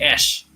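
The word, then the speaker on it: æ: so surprised that this a II was actually pronounced as ash okay it's the capital in a capita kind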